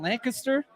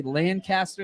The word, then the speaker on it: Lancaster: This dude grew up in Lancaster. California people say Lancaster. That's not how you say it in Texas. It's Lancaster.